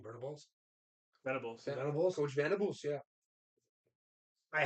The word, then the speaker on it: Venables: day, it's just that they aren't like vulnerables, Vertibles. How the fuck do you say his name? Vertibles, Venables.